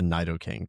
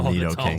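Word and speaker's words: Nidoking: Uh, so I actually have uh a Nido King tattoo or Nidato King, depending on how you want to pronounce it.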